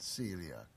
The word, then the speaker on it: coeliac: it's spelled C or E l IA C pronounced celiac and basically it's an intolerance of your body